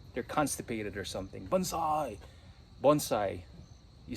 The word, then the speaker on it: Bonsai: I wanted to document this for future reference Bonsai it's Japanese for trees in a pot by the way I wanted to make some correction a lot of people in this country they pronounce mispronounce it as Banzai it's really Bonsai Bonsai is a Battle Cry